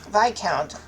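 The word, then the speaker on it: Viscount: Viccount. Okay, so the S is silent.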